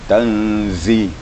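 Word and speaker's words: تنزيل: Zai itu memang agak kuat desisnya karena makhrajnya di ujung gigi, di ujung lidah ya, dengan merapatkan semua gigi. Tanzi, zi, di merapat, bergetar lidah kita, ujung lidah kita. Tanzi.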